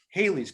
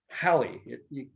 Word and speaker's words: Halley: americans believe it's called haley's comment for a thousand years it's halley sally valley rally i have a niece